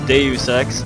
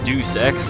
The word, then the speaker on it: Deus Ex: yours truly lunatic fringe that's deus ex not deuce x like everyone pronounces it learn latin people anyway um i had